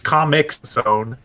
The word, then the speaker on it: Comix Zone: I really pronounce that X. Comix Zone.